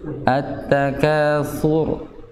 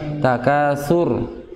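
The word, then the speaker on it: التكاثر: Jadi jangan jangan terlalu dilepas. Sur. Nah, nanti takasur. Nah, itu kebanyakan namanya takrir nantinya. Artinya takrirnya berlebihan. Jadi memang ro itu mempunyai sifat takrir. Nah, ya, sifat takrir ya getaran. Getaran itu jangan sampai berlebihan.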